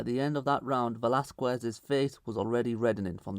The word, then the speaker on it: Velasquez: Also, quick side note, I do want to apologize for the previous video where I mispronounced Velasquez's name and refer to him as Venezuel.